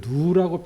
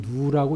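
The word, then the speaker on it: ν: 점성 계수 를 뮤를 일도 롤온 않은가 이걸 누우라고 표시합니다 이건 누우라고 이걸 2 라고 읽고 롭은 의 뷰 우리 로우는 이건 탄이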